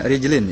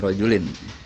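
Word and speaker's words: رجلين: pada setiap Hai kaki bacanya redlin Ya bukan rojulin Hello kalau dibaca rojulin ini artinya laki-laki tapi kalau dgn adalah kg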